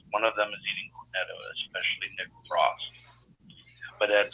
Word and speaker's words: Cornetto: There's cornett. Cornetto. Sorry. Sorry. Cornettos. We can't pronounce it.